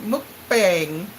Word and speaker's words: mukbang: Look at what Katrina said, mukbang. But I think they say the bang, even though it's spelled that way, I think they say it bang.